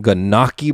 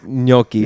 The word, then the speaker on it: gnocchi: And then Christina got some ganaki, bro. That ganaki. You mean? I don't think that's how you say that. I know that's not how you say it. Isn't it nochi? It's gnocchi.